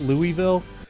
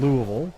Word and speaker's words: Louisville: for like it's not Louisville no it's spelled Lewisville it is pronounced by a Kentuckian Louisville wow now does that